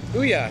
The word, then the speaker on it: OUYA: So, what was the reasoning for creating the OUYA system? Is that how you pronounce it? OUYA, yeah.